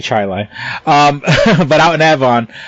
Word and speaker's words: Chili: it's called charlotte and where most people say chili hey they are here they say chili um but out in avon i went to